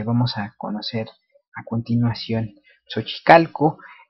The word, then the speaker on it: Xochicalco: a conocer a continuación, Sochicalco. Vemos con la escritura fonética shochicalco, eso sería su pronunciación en tecpilatoli.